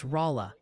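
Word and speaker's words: Rolla: Oh, and a crucial memo from the pronunciation police. Oh boy. It's Rala, Missouri.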